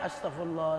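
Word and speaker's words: Astaghfirullah: Astagfirullah mestinya bacanya astagfirullah, astagfirullah. Ini nggak firlah. Apaan firlah? Astagfirullah. Ini zikir kok firlah.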